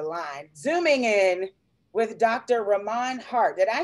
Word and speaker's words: Rahmon: zooming in with dr rahman hart did i say your name right you did you said it right because there's a there's an h in there and so yes you